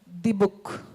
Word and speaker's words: Dybbuk: It's D-Book. Is that correct? Right, D-Book.